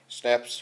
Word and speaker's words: schnapps: स्नैप्स pronounce स्नैप्स, a German drink made from grain, ये शराब है।